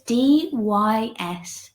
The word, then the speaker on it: dyspnoea: So indications: coughing, wheezing, asthma, dyspnea, I can never say it correctly, which I looked up this morning. So it's dyspnoea.